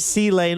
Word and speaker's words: C-Lane: C-Lane, or if you were just going to pronounce it, Clane.